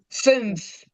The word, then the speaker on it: fünf: Fünf.